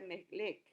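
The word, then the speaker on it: מלך: Pero rey vimos la semana pasada que en hebreo quiere decir, viene de una palabra que se pronuncia melech.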